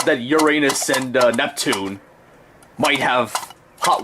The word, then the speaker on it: Uranus: pronounced it nowadays as Uranus to try and not be associated with that joke. But here's a weird thing. Uranus doesn't sound any better in my opinion. Uranus sounds like the word urine, which, yeah.